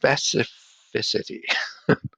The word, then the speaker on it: specificity: I have trouble pronouncing it. It's pronounced specificity. I have to struggle with it. I don't know if it's the two C's and the F in the middle, but I don't know.